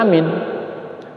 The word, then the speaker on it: amin: A-nya panjang. Nah, sekarang sudah dikoreksi begitu. Amin. Karena mau cepat-cepat jangan-jangan ya. Nah, jangan minnya yang panjang, a-nya pendek. Tetap saja sama itu.